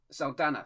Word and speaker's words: Saldana: No, but I need to get it right because otherwise it's Saldana. Sorry, that's how you say it.